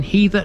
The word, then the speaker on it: Heather: It's not heather as in the stuff that grows on your average moorland. It's Heather because the name derives directly from the word heathland. In the Domesday Book it